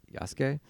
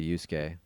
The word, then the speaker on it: Yasuke: that i even watched yes yasuke i was just so used to yusuke from persona yeah that's why i said it that way well there's a sure